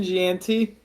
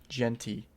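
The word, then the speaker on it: Jeanty: Ashton Ganti butchered that name. Ah, no, baby. Huh? Butchered that name. What do you mean? Ashton Genty.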